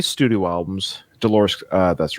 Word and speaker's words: Dolores: Dolores! Because it rhymes with clitoris.